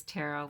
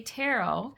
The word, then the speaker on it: tarot: she said it's to actually the correct pronunciation is taro but in the US we've Americaized so many words, English words, French words, what have you.